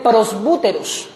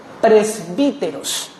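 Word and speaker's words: πρεσβύτερος: De manera fonética o lingüística se se lee prosbúteros, pero en griego la u no se pronuncia como u, se pronuncia como i. presbíteros, pero igual de las dos maneras está bien dicho.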